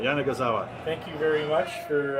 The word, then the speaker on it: Yanagisawa: we can go and I think it's five syllables AWA I think they got it I think we got it now Jana gazawa thank you very much